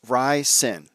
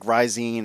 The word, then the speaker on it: Ryzen: yesterday, and he said, I keep saying Ryzen is pronounced Rysin. Rysin. I think I was like Ryzine or something like that, like Visine or something.